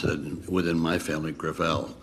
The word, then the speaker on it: Gravel: chairman I'm sorry thank you okay Thank You senator gravel with all due respect let me correct I pronounce it within my family Gravelle it's a French name thank you huh I